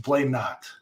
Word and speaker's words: Blainott: The only thing is that the A at the end, it sounds like an O, even though it is an A. So it's pronounced Blainott.